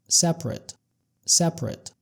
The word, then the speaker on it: separate: طيب separate طبعا هنا دي صفة معناها منفصل. بننطقها كده separate.